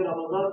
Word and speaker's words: رمضان: اور یہ رمضان کا مہینہ بھی را کے اوپر زبر اور میم کے اوپر زبر اور ضاد کے اوپر زبر، رمضان کا مہینہ. یہ تلفظ رمضان کا مہینے کو کیسے کہا جائے یہ بھی ہمارا صحیح ہونا چاہیے.